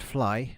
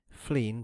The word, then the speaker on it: Flegne: In times past, Flegne-next-Sea, pronounced Fly by the natives, Fleen by etymologists, and Flegne by the rare intrusive Cockney, had doubtless been a